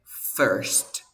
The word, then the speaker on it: first: claro cierto recuerda esto las palabras verbo primero palabra y carbonizar se pronuncian con la misma vocal por ejemplo se pronuncia Bird como si fuera una Ever primero se pronuncia First la palabra se pronuncia